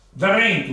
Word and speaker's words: drentu: L'R cambia di posto, passa dalla seconda posizione alla quinta, che ne so, e la parola subisce un cambio di pronuncia. Come in questo caso qui. Dentro, drentu mi dito, no?